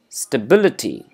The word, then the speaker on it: stability: Many people pronounce it so flat, either they end up calling it stability or stability, but we have to put a little stress at the letter B. It is stability.